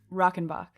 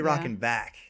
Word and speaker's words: Rockenbach: asked you this before how do you say your last name rokenbok rokenbok i was gonna say rockin back yup rocky do you